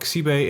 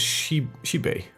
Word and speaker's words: Xibe: And apparently the XY is pronounced as sh. So that would be, if we put an example, this is not Xibe, it's Shibei.